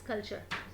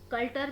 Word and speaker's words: culture: Pronounce the words correctly. For example, for instance, the word is कल्चर। जिसको नहीं पता वो CULTURE, वो कल्टर भी पढ़ सकता है।